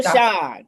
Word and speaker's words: Shon: Sean, uh, author of When Silence Screams. And am I pronouncing your name right? I feel like I didn't pronounce Dr. Shawn.